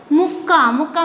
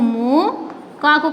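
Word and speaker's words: ముక్క: When we are not putting this ka, here see muka. What is the meaningful word muka? No, this is the correct word mukka. Here two ka is there, so here double sound coming, mukka, here kukka.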